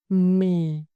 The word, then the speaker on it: mì: With our second syllable, mì, mì, mì. The initial consonant, m, our lip shake, both lips press together, then release with voice.